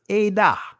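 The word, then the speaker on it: עֵדָה: And it makes the A sound. That's a whole nother teaching, right? So, A-da. All right, that's how you pronounce this. Edah.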